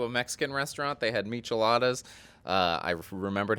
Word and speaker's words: michelada: the past two days have I been saying it wrong my whole life is it a michelada not a michelada I don't